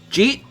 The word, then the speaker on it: Jeet: Did you eat? But you just push it all into one syllable. Jeet?